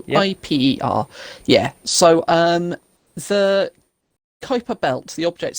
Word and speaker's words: Kuiper: and all of that, and you know about I believe it's pronounced Kuiper Belt. It's Yep. Kuiper.